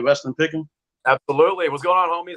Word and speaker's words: Weston Picken: Is that how you pronounce it, right? Weston Picken.